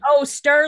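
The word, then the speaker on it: Sterr: Stir like stir it up.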